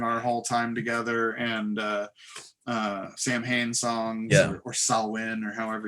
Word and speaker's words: Samhain: It's like Sam Hain. Oh, it's the worst. It's Samhain. Actually, the original Celtic.